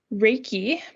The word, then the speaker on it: reiki: some more popularity over the last couple years reiki pronounced reiki is a japanese word for universal life